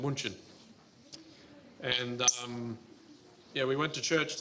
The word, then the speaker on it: München: in Munich, which is in German it's pronounced München.